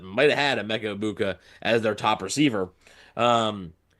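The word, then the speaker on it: Egbuka: do think a mecha Ibuka which you know little programming note it is IA right all right the G is silent um so it is a mecha I abuka okay Um, so I can't deny that there's talent there.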